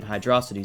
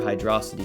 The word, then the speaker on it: Hydrocity: the island's waterways in Hydrocity Zone. It's become quite a debate on how to pronounce this, but I prefer Hydrocity instead of Hydro City as it's faster to say.